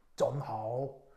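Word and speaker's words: 真好: 참 진짜를 쩐 이렇게 발음해요? 쩐하오.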